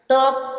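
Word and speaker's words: talk: half half silent है टॉक टॉक में के से पहले एल आया एल साइलेंट रहेगा टॉक मींस बातें करना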